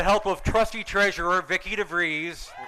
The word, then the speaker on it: DeVries: of trustee treasurer Vickie DeVries rhymes with cheese they've reached out to